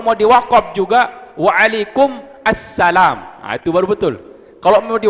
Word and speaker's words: Assalamualaikum: pernah saya sampaikan disini cara mengucapkan salam yang betul bukan Salamualaikum tapi kalau Salamualaikum jadi nakiroh izin nakiroh tapi izin makrifah Assalamualaikum jawabannya juga banyak salah